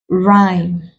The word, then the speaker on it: rhyme: Here we have a, rhyme, whose, where. In the options given to us, house, we need the sound. Ah, here the H is silent. Rhyme, the H is also silent.